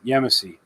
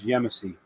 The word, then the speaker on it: Yemassee: There we go, Yemassee. That's how you pronounce it, guys. Yemassee.